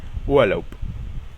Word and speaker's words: Urlaub: Si la B se encuentra al final de una palabra, esta se pronuncia como P. Por ejemplo, Urlaub, que significa vacaciones. Urlaub.